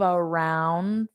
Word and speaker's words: around: I drove around for, so you don't pronounce that D.